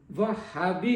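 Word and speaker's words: وہّابی: اسی لیے مجھے لوگ تلفظ کے سلسلے میں، زبان کے حسن کے سلسلے میں وہابی کہتے ہیں. صحیح تلفظ ہے کے اوپر تشدید ہے، وہابی. وہاب سے.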